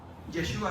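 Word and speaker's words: ישוע: Yeshua también.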